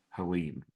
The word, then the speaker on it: Helene: I'm really bad at pronouncing the name of this hurricane. Hurricane Helene. Helene.